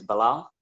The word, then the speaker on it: Bilal: Well, my name is Bilal. Brother Bilal, most people know me as Billal. If you find that hard to pronounce, just say Bill and then put Al in the end.